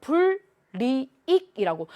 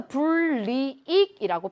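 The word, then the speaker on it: 불이익: 부딪혀요 자 첨가되고 나서 그 다음에 리을과 니은이 부딪히니까 유음화가 됩니다 유마가 일어나서 분리로 바뀌죠 그래서 분리익이라고 발음이 되는 거야 그러면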